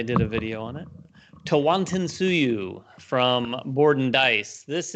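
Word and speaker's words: Tawantinsuyu: number nine my number nine is and i'll pronounce it correctly because i did a video on it tawanton tsuyu from board and dice this is uh their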